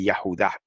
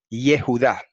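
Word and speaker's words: יהודה: En hebreo se dice Yahudá. Los masoretas lo vocalizaron Yehudá, pero sabemos que la pronunciación o vocalización más correcta y más antigua es Yahudá.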